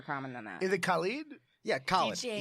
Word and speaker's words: Khaled: Is it Khalid? Yeah, Khaled. DJ It's Khaled.